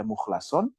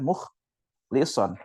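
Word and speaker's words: مخلصا: adalah seorang yang mukhlasan ini nanti ada dua qiroat satu qiroat satu qiroat Mukhlis ada yang kalau yang sudah pernah ngafalin tau lah cara baca jadi memang boleh dibaca mukhlasan boleh dibaca muchlison kayak Maliki kembali ya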